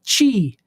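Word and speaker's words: Qi: the symbol of the wireless power Consortium it's pronounced chi chi you say to pronounce it USBC uh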